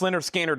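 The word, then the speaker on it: Lynyrd Skynyrd: Pronounced Leonard Skannard is the Analog Productions 2 LP 45 RPM $69.99.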